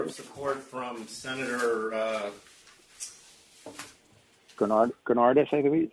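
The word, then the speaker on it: Gounardes: Granardis, I believe, how you pronounce it?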